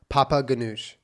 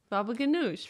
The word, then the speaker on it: baba ganoush: Papa ganoush. Baba ganoush. There you go.